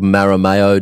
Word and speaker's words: Marameo: of things for them uh the agency's called maramayo design did i pronounce that right right yeah design m-a-r-a-m-e-o and